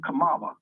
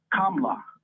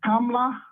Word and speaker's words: Kamala: being black you know if you pronounce her name right is clear she not black the way we say her name or the way they sold her name to us is Kamala Kamala could sound like a black girl on the south side of Chicago right yeah her name is pronounced KLA yeah if you say kamla that's clear that ain't no black woman what saying if you